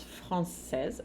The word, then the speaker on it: français: Une étudiante française, uma estudante francesa. Enquanto no masculino vai ficar un étudiant français. O T de étudiant e o S de français não se pronuncia.